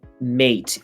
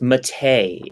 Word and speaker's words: MATE: not um uh uh it's not mate it's mate it's not gnome it's